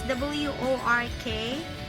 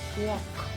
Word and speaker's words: work: Work is W-O-R-K, and they always say it's walk, but it should be work.